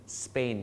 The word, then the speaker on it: Spain: ซื้อ เลย นะ ครับ ซาป ไม่ เอา นะ ฮะ สน Spain ครับ ไม่ ใช่ ซา เป็น spanish นะ ฮะ